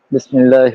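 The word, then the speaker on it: بسم الله: তুমি যদি বলো বা বিসমিল্লাহ, তুমি যদি বলো বেসমিল্লা, তো এরকম উচ্চারণ নাই।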